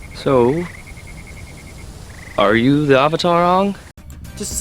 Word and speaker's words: Aang: So, are you the Avatar Aang?